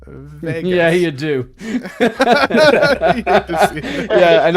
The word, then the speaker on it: Vegas: uh and I don't do not pronounce it as Las Vagas uh thank you very much it is Vegas yeah you do yeah